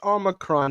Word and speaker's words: omicron: to tracking and minimizing spread of the new omicron variant is am i pronouncing that right i heard that there's like some speculation on how to pronounce that oh that's it's omicron it's an anagram of moronic i don't know